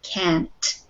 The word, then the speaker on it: can't: Okay, so when you are saying these words, the contraction can't, be very careful to pronounce the T because it was difficult for me to hear the T at the end of the word.